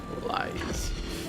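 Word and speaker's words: Lyse: Oh, okay. Lice. Oh, okay. Dutch pronunciation. Thank Thank you. Lies.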